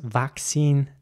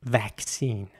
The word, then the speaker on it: vaccine: an air sorry so in British English the word is vaccine and in American English it's it's more like vaccine with an air sound here is an example